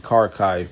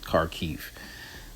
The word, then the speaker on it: Kharkiv: I've been saying Kharkiv, but the actual pronunciation is Kharkiv.